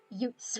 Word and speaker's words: Utes: Utes rhymes with newts.